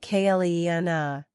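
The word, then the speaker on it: Clíodhna: And there is Cleodna, pronounced something like Cleena, the queen of the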